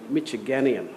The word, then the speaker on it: Michiganian: Richard was named a 2009 Leader in the Law by Michigan Lawyers Weekly and was named Michiganian, I love that. Is that how it's pronounced? Yeah, got it right.